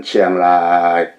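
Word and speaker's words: เชียงราย: 치앙라이는 치앙라이. 이렇게 반듯이 그냥 쭉 뻗어요.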